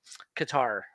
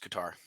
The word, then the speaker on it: Qatar: It's not pronounced Qatar. It's pronounced Qatar.